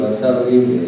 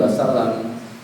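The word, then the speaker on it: وَسَلِّمْ: Ini kira-kira bacanya wassalim atau wassalam. Boleh kalau harokat itu ya. Kenapa ke wassalam? Karena diatofkan kepada wassolla. Solla itu fi'il madhi, maka kemudian ini bacanya wassallama. Tunggale ya Rabbi sholli ala Muhammad, ya Rabbi sholli alaihi wasallim, ya Rabbi sholli wasallim, bukan wassalam.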